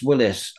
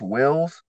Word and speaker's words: Willis: lineup you've got Travis Willis on vocals what band was he in before and where did you find him um actually his last name is pronounced Wills oh Wills right yeah